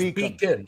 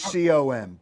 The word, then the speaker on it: Beacom: I thought it was Beacon. So how do you spell it out? Beacom.